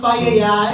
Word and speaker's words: paella: Ella, ella, It's pronounced paella, No, get it right.